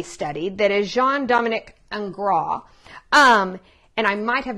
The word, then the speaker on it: Ingres: artist that he studied that is jean dominic and grah um and i might have messed up my french right there but it's spelled i-n-g-r-e-s is his last name told day